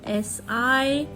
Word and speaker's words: sight: Next word starting with S capital, S-I-G-H-T. Sight. Here you must be observing that G, sound of G is silent.